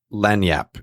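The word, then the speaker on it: lagniappe: guy doing it and lanyap is the way he's saying it just learn yep it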